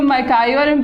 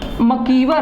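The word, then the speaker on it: MacIver: देखिए ये जो मैकायरम पेज हम बोलते हैं तो ये सही प्रोनाउंसिएशन नहीं है। सही प्रोनाउंसिएशन क्या है? मकीवर है।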